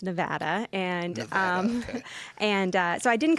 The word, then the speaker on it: Nevada: Yeah, so it's our state animal here in Nevada, which, yes, it's pronounced Nevada.